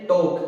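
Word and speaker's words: talk: जैसे टोक, इसको टालक नहीं पढ़ना है, इसको पढ़ना है टोक।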